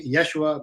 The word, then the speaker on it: Yeshua: YESHUA, which means Joshua, which means God saves, or you could just say Josh.